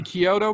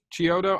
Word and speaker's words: Chiodo: is it is that the kyoto brothers that did that yeah show the brothers chiodo i'm sorry i'm sorry okay i always get i always say it wrong the chiyoto brothers that